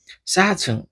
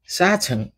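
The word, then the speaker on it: 사층: जस्तै चार तल्ला भनेर भन्नु पर्यो भने कसरी भन्ने त साछङ साछङ हो साछङ अनि आठ तल्ला फाल्छङ हो कि हैन फाल्छङ फाल्छुङ याद गर्ने है उच्चारण राम्रो गर्नु भनेको लिसनिङका आधि कोइसन हल गर्नु हो के। त्यही भएर उच्चारणमा ध्यान दिने ल यो छुङ भनेको तल्ला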